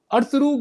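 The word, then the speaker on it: Ertuğrul: तो Turkey government ने officially अर्तुगरुल गाजी, जिसको ये अर्तुगरुल कहते हैं, एक्चुअली प्रोनाउंसिएशन जो उसकी है उसमें साइलेंट होता है टर्की में, ये जो एल है और आर है।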